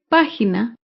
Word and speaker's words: página: palabra estrujula es página página se acentúa en la antepenúltima sílaba página recuerda todas las palabras